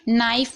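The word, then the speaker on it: knife: नाइफ में आप देख रहे हैं के के बाद एन है तो के को नहीं पढ़ा जा रहा है।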